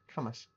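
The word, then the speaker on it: Cambois: It's spelled C-A-M-B-O-I-S. Camas.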